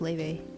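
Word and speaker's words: Laufey: It's pronounced Leve. She even pronounces it herself, Leve. Not Laffy.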